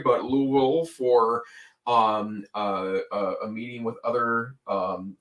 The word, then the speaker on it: Louisville: I had the opportunity to meet in Louisville, which I've been told that I try to add more symbols or syllables in there than are necessary. But Louisville for a meeting with